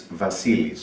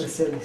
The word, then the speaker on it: Vasilis: How do you pronounce your name? It's Vasilis. Vasilis.